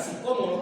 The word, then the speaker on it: sicómoro: psicómodoro, dice la escritura, psicómoro con acento en la primera o psicómodo para poder ver a Jesús.